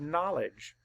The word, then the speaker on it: knowledge: and the rule says when the K and N are together at the beginning of a word or syllable the K is silent and only that is